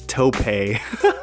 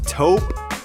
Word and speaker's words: taupe: i'm so filipino that i was pronouncing this tope yeah yeah don't do that we got this taupe colorway here it's a